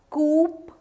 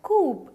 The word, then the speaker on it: coup: is called as Sahari pronounces coop as the name says or what no it's not coop it's cool so you call it COO the P in the end is silent right so such an